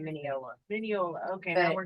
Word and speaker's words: Mineola: Mineola, that's how you say it. Yeah. We've been saying it wrong the whole night. Yeah. Mineola.